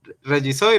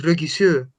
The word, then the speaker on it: Regisseur: Ah, bueno, esta palabra, yo no sé si es que tiene uno, bueno, esta es una palabra alemana, pero tiene una pronunciación particular, es Regisseur. Ah, como francés, es que lo estaba Sí, leyendo así.